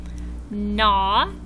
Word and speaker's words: gnaw: In words like sign and gnome and gnaw, what words do you not hear? That's right. You don't hear the G. All of these words have a silent G. You don't hear it.